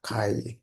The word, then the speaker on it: chi: Walaupun di sini tulisannya chi-square, teman-teman, tapi dibacanya adalah kai. Oke. Nah, ini kan tulisannya chi ya, tapi kita dibacanya tetap kai deh, walaupun tulisannya chi gitu ya.